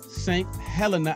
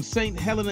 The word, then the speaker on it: St. Helena: He's from St. Helena.